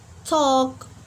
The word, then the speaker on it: talk: pronounce the letter L another example like Talk work will not pronounce the letter L because after letter L we have k letter so let's move to